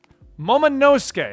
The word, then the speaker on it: Momonosuke: Momonosuke, I was just informed that's how it's pronounced in the anime.